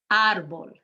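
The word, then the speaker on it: árbol: you want to say you're emphasizing that first syllable arbol gomez sanchez typical telefono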